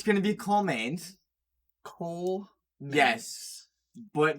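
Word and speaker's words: Kol: Cole. Yes, but it's not gonna be spelled like Cole as in C-O-L-E or C-O-L. No, it's gonna be the Nordic version of K-O-L as in dark.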